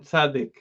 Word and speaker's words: Tzadik: sadik so we said there's two ways to pronounce the letter that's sadie and sadiq sadi means my side